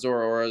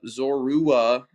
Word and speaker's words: Zorua: Not Zora. Zora. Zorua.